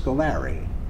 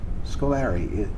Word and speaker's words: Scolari: It was Scolari. Scolari is how most of my relatives, my cousins, first cousins and aunts and uncles all pronounced it that way.